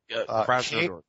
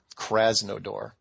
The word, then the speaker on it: Krasnodar: Spell it, Krasnodar. Kras. A-S. N as in Nancy, O-D-O-R. Krasnodar.